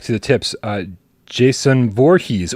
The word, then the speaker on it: Voorhees: the tips uh Jason Voorhees oh I did it phonetically and that was correct I said state of